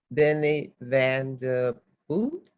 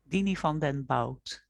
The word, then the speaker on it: Diny van den Bout: I want to introduce Miss Diny van de Bout. Am I saying it correctly? Diny van den Bout.